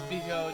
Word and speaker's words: bijou: And since when does Bijou do anything I want her to do? I couldn't pronounce it. Bijou. Bijou. Bijou. Bijou? Bijou. It's like bisou, but it's bijou. Bijou. Like jewel.